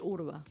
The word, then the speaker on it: Urba: con eh Javier Sánchez Urba Urba. Sí, sabes que por qué lo pensé porque no quería no quería decir mal el el apellido. W RBA, pero se pronuncia urba.